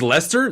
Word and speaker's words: Leicester: wait wait hold on it's Lester that's how you say it so I lived in gloss Lester my whole life like when I was in Ottawa is that is no no I like Gloucester then like that's the right way to say Leicester over yeah okay yeah